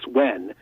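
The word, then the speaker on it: Nguyen: name and it was she wrote down mg uy n so I said oh thank you miss when and she but you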